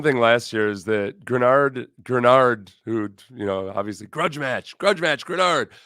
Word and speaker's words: Greenard: Except I feel like somebody did him wrong because at one point he says, "Texans fans, it's pronounced Grenard, not Greenard."